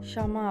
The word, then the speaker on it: Xamã: Shama, but it's not S.